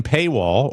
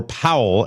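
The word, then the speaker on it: Pawol: Her name is Jen Paywall or Powell as it's pronounced.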